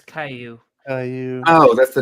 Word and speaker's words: Caillou: church all right yeah what's a what's a Kyu what's that one oh it's Caillou Caillou oh that's the name of that's how